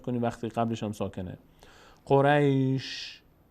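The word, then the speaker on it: قريش: قریش، قریش. دقت کنید، قریش، قریش. شین یک صدای ازش میاد اما حرکت نداره. الان من به شین حرکت ندادم، نگفتم قریشه یا قریشه یا قریشو، قریش. فقط شنونده متوجه میشه که یک صدای شینی آمد.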